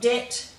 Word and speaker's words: debt: Then in the following ones, we have a silent B. So you'll find it very difficult to pronounce that B. That's why it's become silent over time. So we've got debt, doubt, subtle, succumb, and